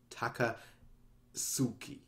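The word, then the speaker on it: Takasugi: I'll pronounce it correctly I know it's an S naught M s not a Zed I'll still say tiger zoo tiger sook tackle yes taka Suki kakuzu be screw it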